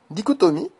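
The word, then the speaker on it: dichotomie: C H dans certains mots le Che se prononce que exemple dicotomie kiasme charisme autochtone al monochromatique et et cetera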